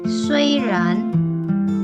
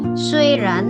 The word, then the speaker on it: 虽然: Kalau di Mandarin bacanya diselipkan e di tengah-tengahnya.